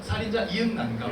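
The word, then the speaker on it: 살인자ㅇ난감: 그래서 공식적으로 저도 감독님께 이걸 좀 여쭤보고 싶은데 저는 오프닝부터 계속 살인자 이응난감이라고 말하고 있거든요. 이게 맞는 발음인가요? 이게 살인 장난감인지 살인자 오난감인지 굉장히 헷갈리더라고요. 원작 작가님을 좀 전에 뵙고 왔거든요. 네. 여기 계신데 작가님은 이응난감이라고 하시더라고요.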